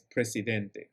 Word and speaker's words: president: Luego tenemos president, president, que es presidente. Recuerden siempre en este tipo de palabras de pronunciar la T que está al final.